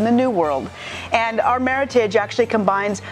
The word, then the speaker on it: Meritage: It's pronounced Meritage, not Meritage. And Meritage is a made-up word. It's a cross between the words merit and heritage.